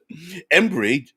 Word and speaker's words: Embry: Mike says, as one with too many homebrew worlds, Embry, just pronounce it like Ember.